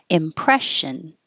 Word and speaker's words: impression: This SSION is a sh, so impression.